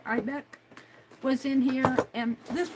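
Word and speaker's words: Eibeck: And Deb Ibeck, I think that's how you pronounce her name, E-I-B-E-C-K, Ibeck, was in here, and this was a powder.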